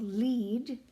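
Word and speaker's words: Lied: hearing a piece called Le which is spelled l i d and I know people go that's not how you would say that well if you're in Germany it is um when you have two vowels in German you ignore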